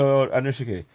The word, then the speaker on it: Anushike: Let me just, can I add, hi there, Dr. Anushike. I hope I'm saying it right. No, that's fine.